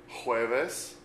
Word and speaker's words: jueves: Notice the J makes a H sound, as in a word like Jose, J-O-S-E, Jose. You may be familiar with a name like Jose or Juan. Juan is J-U-A-N. So jueves, J-U-E-V-E-S.